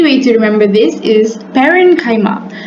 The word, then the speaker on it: parenchyma: An easy way to remember this is parenchyma. Paren sounds like the word parent.